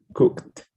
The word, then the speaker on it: cooked: yes cooked it has it has the pronunciation well the pronoun at the end it sounds like tea okay yes cooked excellent okay the last